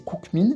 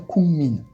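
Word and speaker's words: 국민: Si on a cook avec min, on va pas prononcer cookmin, mais bien kungmin.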